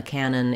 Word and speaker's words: cannon: A cannon is a large gun. They both have the same pronunciation, which has first syllable stress, and letter A says the A vowel.